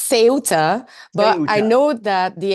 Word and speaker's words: Ceuta: So how do they pronounce it there? say it's seota but I know that the English are saying suta and the American are saying septa so you have all kind of pronunciation